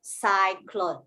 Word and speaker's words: cyclone: The Y here reads the I sound. Cyclone, yes.